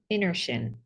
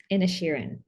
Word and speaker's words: Inisherin: reviewing the Banshees of inertian in the and Sharon in a Sharon there we go I'm like I knew that I was not pronouncing one of those eyes there um in a Sheeran uh I need to